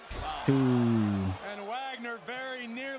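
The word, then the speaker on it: Dr. Wagner Jr.: Wagner is right behind him. Junior. Oh, I forgive saying it wrong. Wagner.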